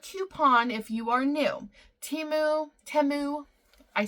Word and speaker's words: Temu: if you are new timu temu I say your name right and I let everyone know that the correct uh pronunciation is temu uh you need to